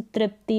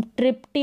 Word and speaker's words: तृप्ति: त भी प्रोनाउंस करेंगे त प्रोनाउंस करेंगे हम हिंदी के नामों में जैसे तृप्ति और तेजस त पढ़ रहे हैं हम त्रिप्टी और तेजस नहीं पढ़ सकते इंग्लिश के नामों में